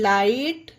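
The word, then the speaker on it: light: एच ई आई जीएसटी हाइट एल आई जीएसटी लाइट बी आर आई जीएसटी ब्राइट टी आई जीएसटी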